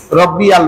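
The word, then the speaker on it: رَبِّيَ: রব্বিয়াল, এখানে ইয়া লাম জবর ইয়াল, অথচ আমরা বলি রব্বিয়াল। রব্বিয়াল বলি, হামজা লাম জবর আল হয়ে যায়। এখানে কিন্তু ইয়া লাম জবর ইয়াল, রব্বিয়াল।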